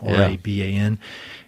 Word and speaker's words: Raban: I think that's how you say his name, Raban.